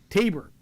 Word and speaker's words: Taber: Uh Patricia, hi Brad Wilder, Mike Voyjackis, Debbie, good evening from Taber, Alberta. I said it right this time. You did. You did say Taber boy.